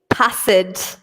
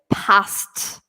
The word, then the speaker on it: passed: so we don't say passage okay so be careful of that we say I always passed ok passed it makes kind of a T sound at the end passed okay so we